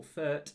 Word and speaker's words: Fürth: And we'll also take on Greuther Fürth, or Fürth, I think is how you pronounce it, as well.